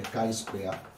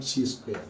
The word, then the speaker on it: chi-square: teaching you about the chi-square say with me the chi-square not g Square this is called the